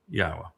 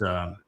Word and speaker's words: Yahweh: It's YAHOWAH in this song, and that is incorrect because the yod makes an E sound in English as it does in Hebrew, and the ah sound is from the hey.